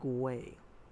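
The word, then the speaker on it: güey: talking about an animal you spell it with a G it's g u e y it's pronounced way pretty simple and that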